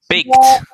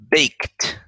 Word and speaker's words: baked: ingredients, then she bakes the Baked. It sounds like a T, doesn't it? That's one of those EDs that sound like a T. Baked.